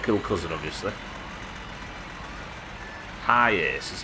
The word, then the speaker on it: Hiace: Hiace is how it's pronounced.